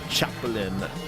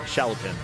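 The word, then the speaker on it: Chalopin: Um, yes, it was developed by Jean Chapelin. Uh, Shallopin, sorry.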